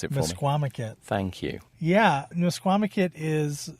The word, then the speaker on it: Misquamicut: Pronounce it for me. Mesquamaket.